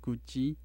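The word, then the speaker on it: རྒྱུད་བཞི: the Four Tantras, and it's pronounced Guji in Tibetan.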